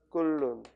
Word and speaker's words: 끓는: 끓는. 히읗이 니은을 만나면 탈락한다. 이건 몰라도 돼요. 몰라도 되는 거야. 왜? 발음하면 히읗은 발음이 되지 않거든.